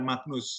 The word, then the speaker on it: Magnus: Nah, ini bacanya Magnus ya, Magnus itu dalam bahasa Latin itu GN jadinya begitu ya. Jadi makanya bacanya Albertus Magnus ya, jadi bukan Magnus ya.